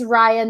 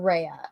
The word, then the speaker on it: Raya: I think it's Raya, not Rhea. Raya, okay. So, Gotcha. Yeah, so it's, Rye, for whatever reason, this is pronounced Rye, and then so Rye.